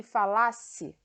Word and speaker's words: falasse: No exemplo seguinte, tem aí: se eu falasse a verdade, você acreditaria. Então, o tempo desse verbo é o passado, a sílaba tônica é o lá e a pronúncia é diferente. Fala-se e falasse.